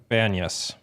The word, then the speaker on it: Banyas: Banas. Banas.